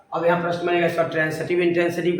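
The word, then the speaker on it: transitive: आगे जो ट्रांसिटिव इंट्रांसिटिव जो बताएंगे, वैसे जनरली लोग ट्रांजिटिव इंट्रांजिटिव पढ़ता है, प्रोनाउंसिएशन शुद्ध नहीं है। ट्रांसिटिव और इंट्रांसिटिव होता है।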